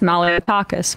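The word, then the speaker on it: Malliotakis: stock tip stock tips which is Malo stock tips good job George Santos that's how how I remember how to pronounce Mal tacus Mal stock tips a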